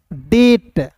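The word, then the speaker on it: debt: डेप्ट नहीं इससे पढ़ेंगे दोस्तों डेट। देखिए बी के बाद टी है तो बी को साइलेंट तो डी ई का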